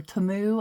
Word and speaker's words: Temu: Some of the little paper pads, I don't know if you guys have ever ordered from Temu, or Temu, I believe it's pronounced.